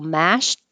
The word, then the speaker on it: mashed: potatoes so mashed really the Ed will sound like a tea but you don't have to release the tea your tongue just goes to the T position so you won't hear that at all it'll just sound like mash but we really are thinking mashed but no tea mashed potatoes and if you